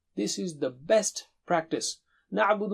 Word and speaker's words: نَعْبُدُ: Na'budu, na'budu, na'budu, na'budu. And don't stretch at the end. Don't say na'budu. No, na'budu. Stop there.